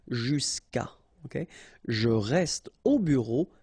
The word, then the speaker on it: jusqu'à: Okay, and then phonetically, jusqu'à.